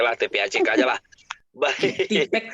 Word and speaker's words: TPACK: Tipek bacanya Pak.